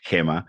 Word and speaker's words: Gemma: Archer and in in Chile your name is pronounced Hema so yeah so here